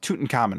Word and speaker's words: Tutankhamun: who don't know who he is uh it's pronounced tootin common right yeah because I know you were making